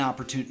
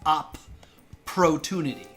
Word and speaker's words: opportunity: kids struggle with spelling is working the syllables that's what I was talking about like up Pro tunity there's a p on